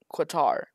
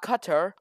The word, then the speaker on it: Qatar: going to attack quitar it's not qatar okay let me show you how to pronounce qatar it's not guitar but very close not cut her like if it was cut her it'd be it'd be on the four the second a would would be an e making a